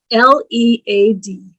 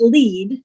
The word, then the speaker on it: lead: L-E-A-D. It can be pronounced lead, to go ahead of, or it can be pronounced lead, a metal that is found in pipes.